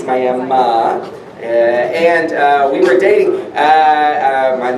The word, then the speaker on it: Miami: I pronounce it correctly it is not Miami it's Miami and we were dating